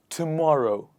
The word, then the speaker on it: tomorrow: But a lot of times people mispronounce it as tomorrow. But it is not tomorrow. It is it's row, morrow, tomorrow.